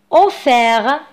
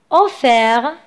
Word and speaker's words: offert: Offert. Offert. لا تقرأ ت التي في الأخير.